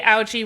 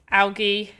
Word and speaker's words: algae: some bigger bigger one we also say algae with a soft g algae yeah algae algae i jump in it's algae i know it's an algae it's not algae so funny how we